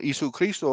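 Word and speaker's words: Ἰησοῦς Χριστός: the truth of the matter is you know issue Christo over there that's how you say his name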